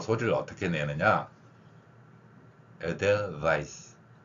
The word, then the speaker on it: Edelweiss: Edelweiss. 한번 해보세요. 바잇 하지 마세요. 저 우리말이 아니라 영어 발음 표기를 훈민정음 방식으로 교체한 겁니다. 그래서 Edelweiss, Weiss 발음하면 돼요.